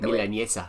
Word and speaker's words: milanesa: Milanesa.